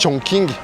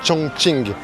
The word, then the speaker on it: Chongqing: Ça s'écrit Chong King mais en fait si vous dites Chong King, les gens vont pas comprendre. Donc c'est vraiment Chong Ching.